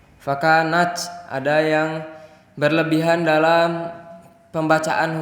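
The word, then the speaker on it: فكانت: Jangan fakanat, tapi fakanat. Ada sedikit desiran tapi tidak berubah menjadi C.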